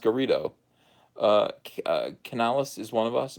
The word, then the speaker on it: Garrido: Garrido, I got it right that time. It's pronounced Garrido.